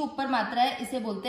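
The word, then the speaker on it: मैत्रः: मैत्र, ये है विसर्ग, विसर्ग का उच्चारण इसके पिछले वाले अक्षर की मात्रा पे डिपेंड करता है, त्र में किसकी मात्रा है, अ की, तो इसको बोला जाएगा ह, मैत्र ह।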